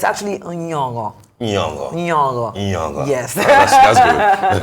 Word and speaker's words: Nyong'o: us a clip, basically teaching us how to pronounce Lupita's name correctly. And it's actually Nyong'o.